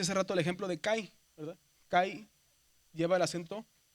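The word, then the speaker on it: καί: que si si decimos kai es cai. La i se pronuncia más abajo.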